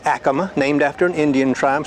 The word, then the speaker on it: Acoma: Okay, I used to say Acoma, but Acoma. Sounds a little better. I used to say Acoma too until a Native American came up to me and said the correct pronunciation is Acoma.